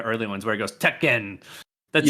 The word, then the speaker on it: Tekken: she misprint or when when she said Tech hen everyone was like first note how you pronounce Tekken but like it was